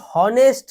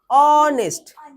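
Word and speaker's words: honest: স্যার এটাও বলেছিল voice উচ্চারণটা হচ্ছে হনেস্ট না অনেস্ট অনেস্ট উচ্চারণ করতে গেলে এ আসে অনেস্ট্যা উচ্চারণে যেহেতু এ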